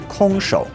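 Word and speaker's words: 空手: So now it means empty hand, kong shou when pronounced in Mandarin.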